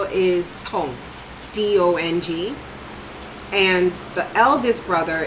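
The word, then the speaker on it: Dong: The first syllable is Tong, D-O-N-G.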